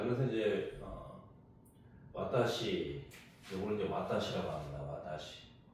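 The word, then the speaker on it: は: 조사로 쓰일 때는 와로 발음을 해줘요. 와. 그래서 와타시 와 이렇게 이제 하셔야 돼요. 와타시 하 이렇게 하면 안 돼요.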